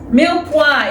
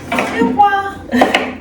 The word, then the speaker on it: mirepoix: Milwa is spelled M I R E P O I X. Milwa.